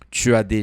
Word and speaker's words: tu: Se você não sabe pronunciar o tu, basta falar a vogal i e fazer o biquinho ao mesmo tempo.